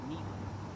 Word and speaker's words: Niger: It's still pronounced Niger, right? It's a Latin word, means black.